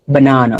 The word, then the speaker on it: banana: But you focus on like the NA, banana.